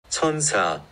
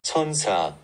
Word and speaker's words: 천사: En réalité, le nom de la marque Skin 1004 ne se prononce pas du tout comme ça. En fait, le nombre 1004 se prononce ainsi en coréen. 천사. Et c'est de la même manière que le mot ange. 천사. Donc en réalité, on devrait prononcer la marque comme ça. Skin. 천사.